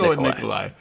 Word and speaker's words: Nikolai: It's just Nikolai.